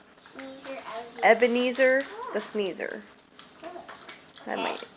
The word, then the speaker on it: Ebenezer: It kind of rhymes with sneezer. Sneezer, Ebenezer the sneezer.